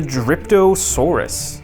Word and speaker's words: Dryptosaurus: a chomping action here is I believe it's pronounced the dryptosaurus and a cool new feature that Mattel is